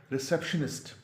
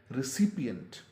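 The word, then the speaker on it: recipient: करते हुए सुना है, जैसे कि शायद रिसेप्शनिस्ट, और या इससे भी बहुत गलत तलफ़ुज़ सामने आता है, लेकिन असल में जो इसका तलफ़ुज़ है वो है रिसिपिएंट।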